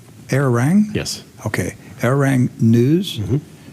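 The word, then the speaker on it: Arirang: Korean television channel uh doc how do they pronounce this errone air rang yes okay air rank news um and uh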